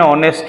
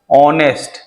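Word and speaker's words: honest: एन का प्रयोग एन ऑनेस्ट मैन भले ही एच का यूज़ हुआ है लेकिन यहां पे एच का प्रोनंसिएशन नहीं हो रहा ऑनेस्ट ऑनेस्ट इस तरह से आ रहा है साइलेंट है एच यहां पे एन एम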